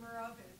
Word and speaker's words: Marovich: Marovich. Yes. I hope I pronounced you properly. You actually gave it the Serbian pronunciation, which is the right one.